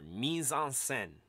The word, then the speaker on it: mise-en-scène: put into the scene and i've got the pronunciation there misonsen right you should just say it with me